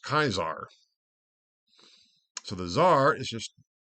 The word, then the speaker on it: Caesar: pronunciation basically um of the classical pronunciation of Caesar c a s a r in classical Latin was pronounced kaisar so the Zar is